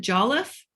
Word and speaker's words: Jolliffe: Is it Jolliffe?